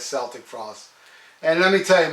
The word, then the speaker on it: Celtic Frost: call it celtic frost i saw tom g warrior in an interview pronounced it as celtic frost and let me tell